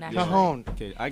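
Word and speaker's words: cajón: who provides percussion and Cajun. Cajon, actually. Cajon.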